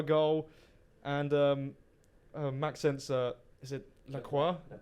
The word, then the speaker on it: Lacroix: And Maxence, is it Lacroix? Lacroix. Yeah, I wanted to make sure I smashed the pronunciation.